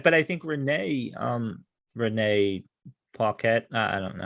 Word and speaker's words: Paquette: But I think Renee Paquette. I don't know how to. No, I think you said actually right.